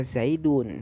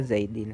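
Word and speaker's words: زيدٌ: Maka dibacanya rofa, tanda rofanya dengan domah karena isi mufrad, maka dibaca zaidun, bukan zaidan, bukan zaidin, seperti itu kemarin.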